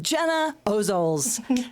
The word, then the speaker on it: Gena Ozols: My guest this week is an activist, a policy nerd, a campaign leader, and a candidate for public office welcome Gena Ozols.